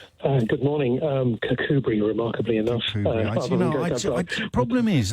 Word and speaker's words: Kirkcudbright: I didn't want to say, would you put in brackets how I pronounce that? Kakubri.